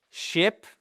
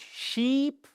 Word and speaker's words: ship: Donc regarde la plage, le bateau c'est ship. Parce que si vous dites sheep, qu'est-ce que c'est ? Exactement, c'est le mouton.